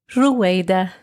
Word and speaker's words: Ruayda: How do you pronounce it, sweetie? Ruayda.